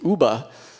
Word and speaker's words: Yuba: word which comes and they pronounced it Ubah and it's it was a name that they had for service berry when she told us